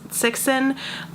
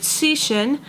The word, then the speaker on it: Cixin: I've seen a few people refer to his name as Cixin, but I know that a C is like a TS sound and an X